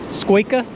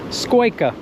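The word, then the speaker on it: scoică: how do you say it in your language squa that's Romanian yeah yeah squa it's a squa s I learned a new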